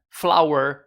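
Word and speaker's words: flour: que eu acho interessante você sabia que a palavra flor flower e a palavra farinha flower tem a mesma pronúncia flower nota em porta vamos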